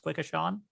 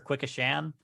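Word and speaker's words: Quequechan: have never guessed that it's pronounced quick-as-sean or quick a sham but it it's like q-u-e-q-u-e-c-h-a-n i i i thought of k-k-chan and i was like this ain't a japanese river yeah that's what says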